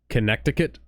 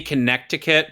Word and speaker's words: Connecticut: dictated my dialect, like based on how many times I pronounce the second T in certain words. Connecticut? Yeah, it's supposed to be Connecticut, but the way we pronounce our own state's name suggests that it is Connecticut.